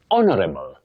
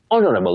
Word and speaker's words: honorable: You say honorable, honorable, because that H is silent. You don't say honorable, it's honorable, just like our, not how.